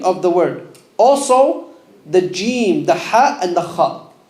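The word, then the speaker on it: ج: So be careful for saying jim, not jim, coming from the sides of the tongue. A common mistake people make, they pronounce the jim from where? The sides. It's not from the sides of the tongue. Say jim. Is your tongue going upwards? Yeah. If it's going upwards, you're saying it wrong.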